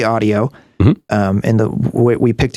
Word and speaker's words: Adio: how it's pronounced because it's a d IO we say audio um and the we